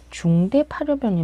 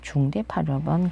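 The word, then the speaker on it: 중대팔엽: 이게 태라는 느낌이 아니라 상중하로 나눴을 때 중대예요. 그래서 중태라고 읽는 거는 좀 약간 일본식으로 읽은 게 아닌가. 어차피 대가 태로 읽히기도 하니까요. 그래서 제가 익숙한 발음은 중대 파르변.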